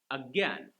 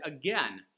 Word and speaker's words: again: But the word 'Again'. We have the ain sound: A and I together. Some British people might say agAIn. Most Americans is just 'IN'... again.